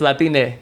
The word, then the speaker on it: Latine: It's Latine.